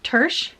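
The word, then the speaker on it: Törzs: sister Scribe by Emma tur I'm hoping I'm pronouncing that correctly it should be like the same tur as the Hungarian pronunciation so hopefully that's the right one I'm sorry if it's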